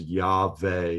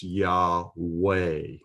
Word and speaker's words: Yahweh: Vav in Yahweh, and modern Hebrews pronounce that name, if they pronounce it at all, they pronounce it as Yahweh with a V sound. If it's pronounced with the W sound, then it's Yahweh.